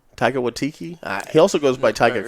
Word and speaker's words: Waititi: Taika Waititi? Taika Waititi? He also goes by Taika Cohen. No, it's not Taika Waititi. Taika Waititi.